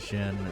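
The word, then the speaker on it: Djinn: Flint the Venus Jin something joined the party. Now I'll briefly teach you how to use Jin. Or Genie. Whatever. It's Dijin. You don't really pronounce the D. Could be Genie.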